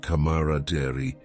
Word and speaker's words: camaraderie: Camaraderie pronounced yao camaraderie, camaraderias, is a noun that describes the mutual trust and friendship among people who spend a lot of time together.